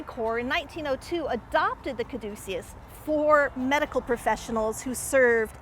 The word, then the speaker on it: caduceus: On this side of the headstone, if we look up at the top, we see a caduceus, or some people say caduceus, depends on how you want to pronounce it.